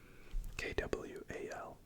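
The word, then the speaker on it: Qual: It's not but think of it as K W. K W A L is how you pronounce it.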